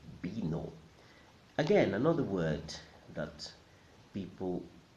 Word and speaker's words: vino: In Spanish, the V sounds like a ba, so it's not vino, but vino, vino, vino, vino.